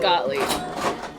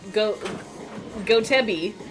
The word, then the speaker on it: Gottlieb: Oh, so you did mean Gottlieb. Okay, cool. I thought Go-To-Be.